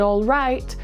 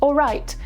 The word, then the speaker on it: all right: This is why words like already, almost, and all right often sound like already, almost, and all right when they're said quickly.